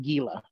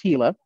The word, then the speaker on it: Gila: does kind of look a little bit like Gila but it is pronounced Gila and instead of going up why we go